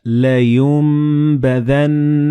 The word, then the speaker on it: لَيُنبَذَنَّ: Like in this example, you read كَلَّا لَيُنبَذَنَّ فِي الْحُطَمَةِ. So the noon and ba, they will be assimilated together and you will pronounce them as meme.